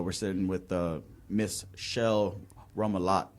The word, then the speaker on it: Roumillat: We're sitting with Miss Shel Roumillat. Roumillat, yeah. Okay, I'm so glad I pronounced that correct.